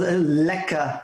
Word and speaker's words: lekker: out is it well lekker is i mean it's pronounced like phonetically like l-e-k-k-a yeah okay but it's